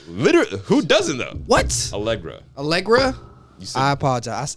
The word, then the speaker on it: Allegra: allegra allegra i apologize i said algeria i'm sorry is it a you snow elect hold on i'm just going you know i'm starting to find an interview with what they say her name yeah it's allegra it's a-a-l-e-g-r-a it is